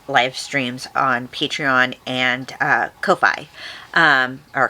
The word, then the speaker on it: Ko-fi: And maybe even some exclusive live streams on Patreon and Ko-Fi, or Coffee, I guess is how you pronounce it.